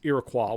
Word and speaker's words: Iroquois: There was the Iroquois, or I've also heard it pronounced Iroquois when I was up in Canada.